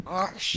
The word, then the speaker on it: Ochsner: Ochsner.